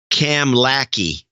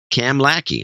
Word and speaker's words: Kamloops: It's pronounced Kamlaki, he says. Cam Lackey.